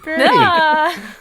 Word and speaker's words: BrdU: dappy or brdu brdu which is pronounced bird bir boy that's good and actually if we're using the Welsh alphabet as I always am the U is pronounced more like an I so it's birie birdie that's sweet that's so